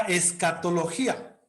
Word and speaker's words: escatología: paréntesis póngale la palabra escatología en las que hubo en el chat por si acaso escatología con acento en la y que es el estudio